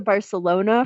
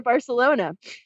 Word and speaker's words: Barcelona: months, or if you want to come to Barcelona for a little while, we could make that